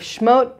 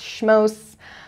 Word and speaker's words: Shmot: And I look very forward to continuing the book of Shmot with you. You might also hear it pronounced Shmos, just like sometimes you hear people say Shabbos, sometimes you hear people say Shabbat.